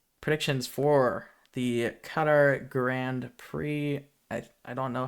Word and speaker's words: Qatar: Qatar is what most Americans say. Yeah. I know. Qatar. I think Qatar is technically how you're supposed to say it in English, and then it's got like a different pronunciation in Arabic.